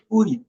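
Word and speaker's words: 의: লেখা আছে হানগুক উই, আলাদা করে উচ্চারণ করলে এটা হচ্ছে উই। তবে যখন এটা শব্দের সাথে বসবে এই উচ্চারণটা যাবে হান, ই বা এর মতো হয়ে যাবে। এখানে হচ্ছে ই এর মতো উচ্চারণ হবে।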